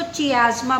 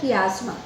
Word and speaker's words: chiasma: कुछ बच्चे इसको चियाज़मा बोलते हैं, बट it pronounce as द कियाज़मा।